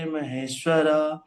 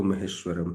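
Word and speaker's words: महेश्वरम्: तप साम सर्व लोके महेश्वरा सो हृदय सर्व भूता नाम त्वा माम शांति मति मेरे लिए फिर से एक बार बोलिए कुछ चीज बताता हूं रामम सर्व लोके नहीं है सर्व लोक महेश्वरम है है ना और फिर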